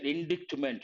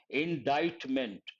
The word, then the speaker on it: indictment: I myself forgot indictment the letter c is Silent not t the letter c is silent and how do you pronounce this indictment d d d remember indictment part of speech noun